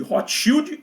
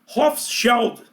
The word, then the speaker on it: Rothschild: E finalmente chegamos à última família, a última das 13 famílias dinásticas, a família que muitos chamam de Hotschield. Eu vou pronunciar Hofschild, mais próximo do alemão, Hofscheld, OK?